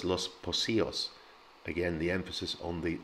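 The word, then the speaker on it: Los Pocillos: most um i've heard lost piccolos and los poccios and all kinds of things it's los pocios so the c in the middle of a spanish word is pronounced the same as an s and remember the double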